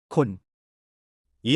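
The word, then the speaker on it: คน: 콘.이 한 단어는 콘처럼 발음되지만 더 짧고 날카롭게 콘이라고 하는데 사람 또는 사람들을 의미합니다.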